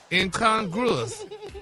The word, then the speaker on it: incongruous: it's pronounced how? Incongruous.